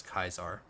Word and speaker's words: Caesar: kind of funny because he actually I think he pronounces it Caesar but everyone else Pro pronounces it as kaisar seek kaisar by way